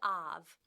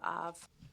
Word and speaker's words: Ove: I brought a man called Ov. I think it's pronounced O. No, actually, it could be, but I've been saying OV the whole time, and I'm sticking with it.